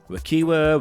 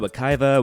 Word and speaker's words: Wekiwa: You know, maybe pronouncing this park is subjective. Maybe it's like a you say potato, I say potato kind of situation. Wekiwa, Wekiva, Wekiva, Wekiwa, let's call the whole thing off.